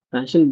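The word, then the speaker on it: Paschen: இது பேஷன், இந்த ஷா அந்த டேர்ம் அந்த இதில் நம்ம இது பண்ணிக்க வேண்டியது, ப்ரொனவுன்ஸ் பண்ணிக்க வேண்டியது பேஷன் பிராக்கெட்.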